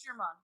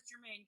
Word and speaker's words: Germain: Do I say your name wrong? It's Germain. Germain. Everyone says Germain because I hang out with a bunch of English Kniggets.